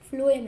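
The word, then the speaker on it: phloem: ठीक है, तो देखो जाइलम है, फ्लोएम है। देखो पहले फ्लोएम है, तो देखो ये फ है, फ फ फ फ प्रोनाउंसिएशन देखो, फ्लोएम, फ्लोएम।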